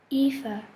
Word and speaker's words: Aoife: Johnson Aoife the girl whispered the teacher smiled at her